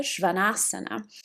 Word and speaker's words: Śvānāsana: The downward facing dog in Sanskrit, it sounds like Adho Mukha Śvānāsana. So there's a different way to pronounce.